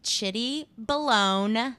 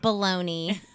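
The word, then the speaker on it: chitty_balone: for Twitter but my Instagram is at it's pronounced shitty bolon not Bologna and some people like to say it's shitty and it's ch ITT why underscore B alo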